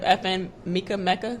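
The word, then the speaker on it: FN Meka: Have y'all heard of FN Mecca? I think it's pronounced Mecca.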